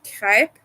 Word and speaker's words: crêpe: I know I pronounce it crepes. I know that's. I know how to pronounce it in French. It's crêpe in French.